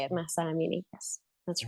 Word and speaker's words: Mahsa Amini: Is that how we That's pronounce exactly it? how you say it, Mahsa Amini.